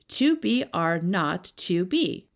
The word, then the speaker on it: 2BR02B: The 0 in the telephone number he pronounced not. The number was 2BR02B.